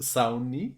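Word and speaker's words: Sawney: iba a saber escribir Entonces está muy padre sauni sauni bein vean Ah como Mr bein Mr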